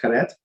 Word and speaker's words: Karet: However, he saw chorus, right, some pronounce Karet, as the ultimate punishment